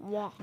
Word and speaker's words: walk: वही तो दिक्कत है सर जी, इसे वॉकिंग मत करना, वॉक करना. एल साइलेंट है. Walk. टॉक, वॉक, यहाँ पर एल साइलेंट होता है.